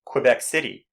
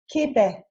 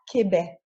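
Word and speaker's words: Québec: capital city of quebec when speaking french we simply cannot say quebec city which is a rather common mistake that we hear we must say quebec quebec let's go south of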